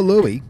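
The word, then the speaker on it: Löwe: There's the Louis. That's how it's pronounced.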